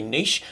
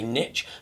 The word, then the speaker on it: niche: having butchered our language, they don't say niche, they say niche.